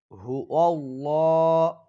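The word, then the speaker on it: هو الله: সাথে সাথেই সকলেই বলুন হু আল্লাহ হু আল্লাহ খেয়াল করুন অনেকেই বলে হু আল্লাহ এখানে কিন্তু হু আল্লাহ হবে না এখানে হবে হু আল্লাহ ল শব্দটি মোটা করতে হবে এখানে লাম শব্দটি মোটা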